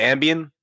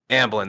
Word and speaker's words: Amblin: what's the company called is it ambian or I keep mispronouncing it someone called me out on this amblin there you go I keep wanting to call it ambian I think that is